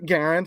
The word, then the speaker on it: Garand: also find M1 garands you can call it the grand if you want I'm not like a pronunciation type person but it's a Garen his name was John